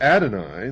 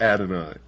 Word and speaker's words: Adonai: would adonai the god of the christians and the jews